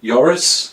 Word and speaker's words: Joris: Okay, the the next question is I think it's from Yoris. Uh apologies if I've butchered your name. Is it Yoris or Joris? I think it's going to be Yoris somehow.